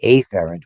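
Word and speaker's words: afferent: And we usually use emphasize the letter when we're pronouncing it because it avoids confusion. You hear that a lot. We talk about aerant which is incoming and eerant which is outgoing because aphrant and epherent are hard to distinguish.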